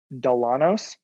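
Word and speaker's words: Dillanos: is is the name of the roaster is delanos it's spelled d-i-l-l-a-n-o-s they are fantastic they make an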